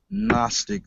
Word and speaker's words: Gnostic: the word is pronounced Gnostic the g is silent and without the G and the definition the